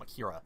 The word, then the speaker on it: Akira: Also, yes, I'm pronouncing it Akira and not Akira, because that's how Chester Bennington pronounced it.